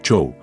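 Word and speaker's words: Jo-Am: y peces japoneses yo am aparentemente pronunciado show es una entrada ficticia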